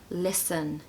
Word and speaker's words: listen: no Al number seven listen listen listen to the Rain listen to the birds sorry no T don't say it even if you feel